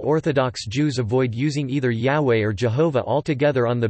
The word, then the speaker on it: Yahweh: Other Greek transcriptions also indicated that YHWH should be pronounced Yahweh.